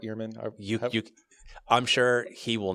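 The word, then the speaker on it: Ehrman: So like Bart Arman's like, "Okay, we have we have Petrine uh theology. I think it's pronounced earman. Excuse me. Can we go ahead and I think it's pronounced Bart Eman.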